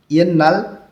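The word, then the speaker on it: 옛날: ইয়েন্নাল অতীতে তধ্বনির বাচ্চামের পরে নিয়ন আছে, এই জন্য এখানে এই স্বরটাও ন উচ্চারণ করতে হবে।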